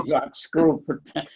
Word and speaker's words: Einsatzgruppen: First important, you have to learn how to pronounce it. Yes, I know. Einsatzgruppen, which is the German word.